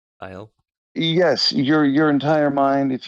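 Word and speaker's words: Thiel: You can, Peter Tile, if your name is pronounced as it is written in German. Tile.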